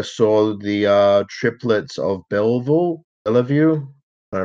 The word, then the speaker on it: Belleville: the uh Triplets of Belleville I love you I pronounce that hi it seems someone called the French pronunciation police so I'm here to tell you that it's pronounced The Triplets of Belleville thank you for your